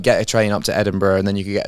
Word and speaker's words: Edinburgh: Because they study at Edinburgh and then, am I pronouncing that right? Edinburgh.